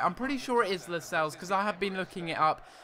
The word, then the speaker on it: Lascelles: I think it's Lascelles. I think that's how you say his name. And it's actually a silent C, so you don't actually pronounce the C.